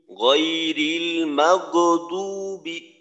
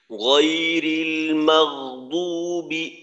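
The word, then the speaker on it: غير المغضوب: আর একটা হলো কলকলার মতো করে, গয়রিল মাগদুবি, গয়রিল মাগদুবি, এইটাও ভুল। আর একটা হলো আওয়াজকে ঠিক মতো চালু রেখে রিখওয়া সিফাত অনুযায়ী, গয়রিল মাগদুবি, মাগদুবি।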